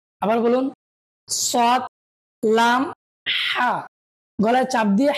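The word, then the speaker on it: ح: বলবেন সৎ লাম হা আবার বলুন সৎ লাম হা গলায় চাপ দিয়ে হা উচ্চারণ করতে হবে আবার বলুন সদ লাম হা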